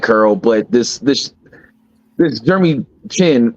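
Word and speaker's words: Jeremy Chinn: I think but I did like Curl, but this Jeremy Chin, right? That's how you say his name, Jeremy Chin.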